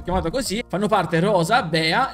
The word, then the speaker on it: Bea: E infine abbiamo Bea che usa il potere, diciamo, degli insetti. Il nome richiama l'ape, perché in inglese si pronuncia B, chiama proprio il rumore